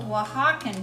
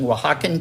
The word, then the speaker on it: Oaxaca: Yes, that's one of those words that if you look at it, no you would know. sense that you spell it that way. Exactly. At least in English, it does not.